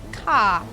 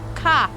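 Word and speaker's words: か: It's because we pronounce it coffee, and it's ka, not ko. It's ka. With its lid flipped up and a drop of coffee flowing out.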